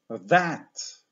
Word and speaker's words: that: na coś dalej to powiemy that I tutaj T jest dźwięczne i e szerokie otwieramy szczę Powtórzmy dwa